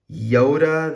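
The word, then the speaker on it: Jodah: buddy look at this Yoda the unifier I've heard someone pronounce say I've heard someone call it jota but I say yoda because I'm Hispanic and the J is a yeah sound that's why you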